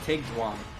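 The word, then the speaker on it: Eigdwan: How do you spell that? E-I-G. Tig. Yep, and then D-W-A-N. So it's Tigdwan.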